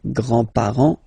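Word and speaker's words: grands-parents: So, so the the the family le and then we'll start with the the grandparents le grandpar le grandpar you don't pronounce this final s here grandpar okay so l grandfather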